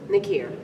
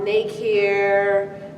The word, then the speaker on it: Nakier: you what's your name what do you say nick here nakira like just like that hat was it mispronounced a lot growing up everyday still still what have you got uh make here um people would just like make